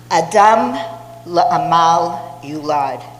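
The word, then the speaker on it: Adam le'amal yulad: Let me say that again because my husband would kill me for saying it wrong. Adam la Amal Ulad.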